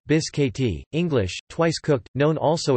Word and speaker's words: biscotti: Biscotti, Italian pronunciation, biscotti, English, twice cooked, known also as cantucci, are Italian almond biscuits that originated in the city of Prato.